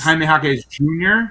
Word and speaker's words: Jaime Jaquez Jr.: And you get to call him Triple J, and one of the J's is silent, or two of the J's. Yeah, Because it's Jaime Jaquez Jr.